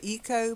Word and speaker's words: eco: who fights for ecology so we say echo but ecology and ecological so it's a funny